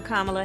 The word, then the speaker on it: Kamala: a politician of substance camella it's not kamala it's not camella but she still had to teach the country how to say her name i'm kamala harris and she was